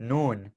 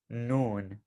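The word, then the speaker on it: نون: how to spell it noon like good afternoon that's exactly what this is noon okay so and we're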